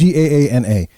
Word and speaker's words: Gaana: And for our friends over in India, we're on the Ghana app. Or Ghana app. I don't know how you pronounce that. I'm sorry. It's Gaana.